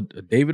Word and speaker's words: Davido: perfect the way Usher Sensational with deito or Davido I always say his name righto he one